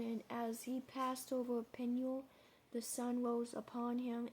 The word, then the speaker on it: Peniel: Peniel. Peniel, for I have seen God face to face, and my life is preserved. Verse 31. And as he passed over Peniel, the sun rose upon him, and he healed upon his thigh.